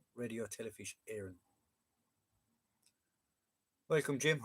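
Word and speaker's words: Éireann: Radio Telefish Aaron. Radio Telefish Aaron. Um, the accent over it, John. It's fodder. It's called a fodder. A, um, it gives an A sound.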